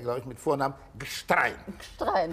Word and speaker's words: Gstrein: Gstrein. Habe ich richtig ausgesprochen. Haben Sie richtig ausgesprochen.